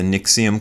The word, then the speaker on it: NXIVM: I've watched I think three documentaries about the nixium cult it's spelled nxivm I think so go look it